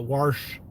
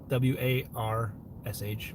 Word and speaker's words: Warsh: But we'll do another washing machine video, Warsh, W-A-R-S-H, Warsh, because that's how it's spelled. The R is invisible, just like the silent E. It's the invisible R. Warsh, where I come from.